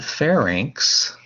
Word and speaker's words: pharynx: your voice now the pharynx this is how you pronounce that word correctly like the state fair and then inks like a ink pad inks a stamp fair